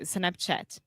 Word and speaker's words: Snapchat: little bit of Snapchat, so you're saying shh, but it's ch. Okay? Yeah, I was saying just like chato, Yeah. but it's like chi. So Snapchat. Perfect. And also, this is the same open A sound that we have in WhatsApp.